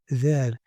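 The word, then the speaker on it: ذ: We have Dhal, Dhal, Dhal. It's like in the word this or that.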